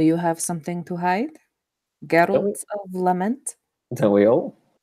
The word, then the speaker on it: Geralt: Geralt. Like Gerald with a hard G.